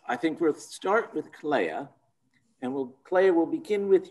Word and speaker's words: Clea: And so she called me Clea, or she thought it was pronounced Clea, but a close friend of ours, Gore Vidal, told her that it wasn't pronounced Clea, it was pronounced Clea because E is pronounced A in Latin.